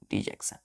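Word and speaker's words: dejection: टी आई ओ एन डिजेक्शन डी जक्शन डिजेक्शन इसको डी नहीं पढ़ते हैं डिजेक्शन पढ़ते हैं ठीक है फिर हम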